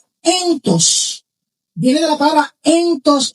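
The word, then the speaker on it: ἐντός: que recolecta ese entres significan se pronuncia entos.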